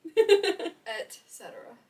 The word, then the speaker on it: et cetera: Actually, it's not pronounced like that at all. ETC? Et cetera.